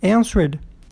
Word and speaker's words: answered: Answer. Vai ficar answered. Com ED, também não dobra. E que a sílaba forte é a primeira. N.